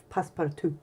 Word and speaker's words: passe-partout: And you spell passe-partout P-A-S-S-E, like passe, and then P-A-R-T-O-U-T, part out, but French pronounce passe-partout.